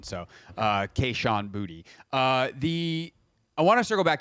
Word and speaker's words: Kayshon Boutte: It is Kayshon Boutte, by the way, is the pronunciation. So Kayshon Boutte.